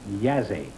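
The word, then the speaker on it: Jassy: Bucharest and Yazzie. Y-A-S-E, it's pronounced. It is spelled J-A-S-S-Y. Oh. Bucharest and Yazzie.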